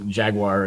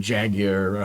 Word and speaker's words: Jaguar: and and and again depending on how you say it is it's a Jaguar and jagger however I say Jack um okay no Americans say Jaguar oh I've been made